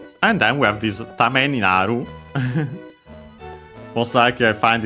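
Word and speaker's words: 為: First and foremost, we have Tame. Should be accented on the last syllable.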